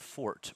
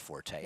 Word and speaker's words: Fort: horse in yesterday that had the word Fort pronounced correctly yes Greg tried to call it Forte up here I shut him down no no that one was French yes she is strong